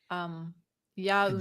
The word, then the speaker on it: Yaoundé: So I hope I didn't say that too horribly. Yaoundé. Yeah, I mean, you got it right based on the pronunciation guide we have in the agenda here.